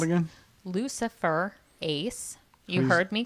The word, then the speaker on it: luciferase: and one of the ingredients in it is luciferase yes it's an enzyme and it's called again lucifer ace you heard me correctly can you spell that